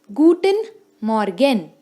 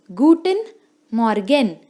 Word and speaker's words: Guten Morgen: Please note the pronunciation very carefully. It's hallo, which means hello. Next is Guten Morgen. I repeat, Guten Morgen, which means good morning.